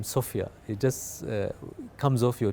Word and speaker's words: Sofya: And I don't know, something about the name Sofia, it just comes off your tongue na sound mzuri. So I said, okay, I want that. It rhymes with sofa, so I'll go with that too.